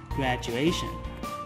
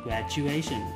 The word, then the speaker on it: graduation: Và các bạn nhớ với những cái từ có đuôi là ation thì mình sẽ nhấn vào âm A trước tion. Và từ này mình sẽ đọc là graduation, graduation. Các bạn chú ý cái phụ âm ch.